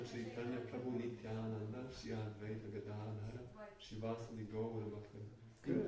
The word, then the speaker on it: Gadadhara: Shri Krishna Chaitanya Prabhu Nityananda Shri Advaita Gadadhara Shri Vasudeva Gaura Bhakta. In Good. Polish we always have strong accent on the second to last syllable. Godadhara. Well, sometimes it's right, if you're lucky, but not always.